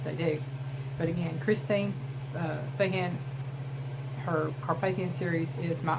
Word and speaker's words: Feehan: Another one of my favorite authors is Christine Feehan. It could be pronounced Feehan.